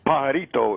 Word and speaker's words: pajarito: Birdman, how do you say it? It's pajarito, it's called.